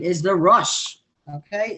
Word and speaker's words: Rosh: his name is the rush okay it's actually spelled like rosh you know but it's pronounced rush i mean joel corrected